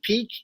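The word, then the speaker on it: Peeke: We had the talent, but so I think adding him and adding who is it, Peak? Is that how you say his name? Peak?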